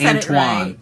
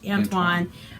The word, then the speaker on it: Antoine: library book so it's very shiny confident you butchered that Antwone ain't French do de saint-exupery except le but my sisters Antoine Antoine anyway yes uh this is pretty cute uh